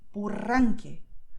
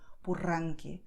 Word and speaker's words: Purranque: The willpower comes from my lungs. So, Costa Rica, Rio, Purranque. That's the secret, okay? So it's not about your tongue doing heavy lifting. It doesn't do it when you say Costa Rica, Rio, Purranque, okay, is the air. The tongue just moves along, okay?